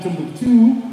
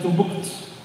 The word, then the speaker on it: Timbuktu: And again, so it's for us, it's not, if you read our heritage, you don't find Timbuktu, but you find Timbuktu. There is no U.